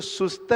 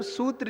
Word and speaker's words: सूत्र: शुद्ध नहीं कर पाते बहुत से लोग इसको सुस्त जी बोलते बहुत लोग सुत जी सुस्त जीी मतलब सूत्र जी एक्चुअल में उसका नाम है सूत्र जी तो इसका ओरिजिनल नाम